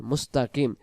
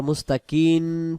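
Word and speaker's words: ٱلْمُسْتَقِيمَ: তাহলে উচ্চারণটা আমরা পড়বো সিরাতাল মুস্তাকিম। অনেকে আবার মুস্তাকিন পড়েন, শেষে দুন্তান্ন হবে না, ম হবে। অর্থাৎ বাংলা আরবিতে মিম এবং বাংলাতে ম।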